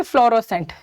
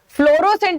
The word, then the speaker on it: fluorescent: अब अगर इसको हम पढ़ेंगे तो क्या लगेगा, ये फ्लोरोसेंट. राइट. सो फ्लोरोसेंट नहीं होता, फ्लोरेसेंट होता है, रेसेंट. सो RE आता है, RO नहीं आता.